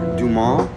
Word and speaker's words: Dumas: Hi, this is Dumbass, otherwise known as Dumas, or Dumas, as I pronounce it. The name is French.